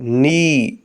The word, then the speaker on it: knee: ناٹ، ناٹ یعنی گرا۔ اگلے ورڈ کے اسپیلنگ ہیں KNEE۔ اس میں K سائلنٹ ہے، باقی 3 لیٹرز کو ملا کر پڑھیں گے نی، نی یعنی گھٹنا۔ اور